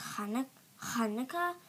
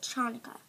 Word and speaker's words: Hanukkah: Like, it's fine if you spell it C-H because it's pronounced Hanukkah.